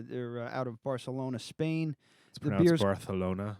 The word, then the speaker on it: Barcelona: out of Barcelona Spain Barcelona Barcelona it no it actually is is it really yeah that's terrible for the lisp that's actually how it's pronounced I'm never going yeah